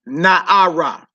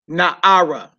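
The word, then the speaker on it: נערה: And it's Na'ara. Na'ara. Na'ara. Like Na'ar is young man. Na'ara is young woman. Yeah, that hey at the end of it.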